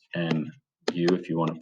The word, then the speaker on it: mu: fair dice and that we can call mu so that's m u if you want to